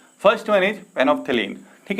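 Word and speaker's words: phenolphthalein: First one इज फेनोप्थेलीन, ठीक है। फेनोप्थेलीन जो है हमारा एल बी है, फेनोप्थेलीन में एल साइलेंट होता है।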